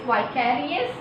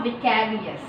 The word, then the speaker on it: vicarious: Some pronounce it as vicarious and some pronounce vicarious. So the both pronunciation you can use.